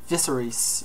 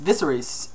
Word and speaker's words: Viserys: And the House Targaryen, got a few here, Daenerys and gosh, how do you pronounce that? Viserys, yes, Viserys, and then you have Khal Drogo.